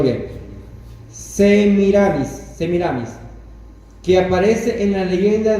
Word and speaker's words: Semiramis: Déjame pronunciarlo bien. Semiramis, que aparece en la leyenda de Ninus.